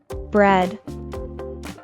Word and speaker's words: bread: The cluster EA is pronounced as an E sound. Bread.